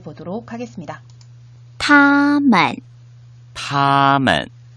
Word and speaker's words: 他们: 원어민 선생님의 정확한 발음을 잘 듣고 따라 발음해 보도록 하겠습니다. 他们他们 네, 他们이라고 표현하죠.